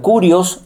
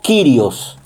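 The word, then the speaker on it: κύριος: Y en griego se pronuncia kurios o kyrios.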